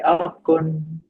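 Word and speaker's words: អរគុណ: We say Okun. Oh, kun. Is that am I pronouncing it correctly?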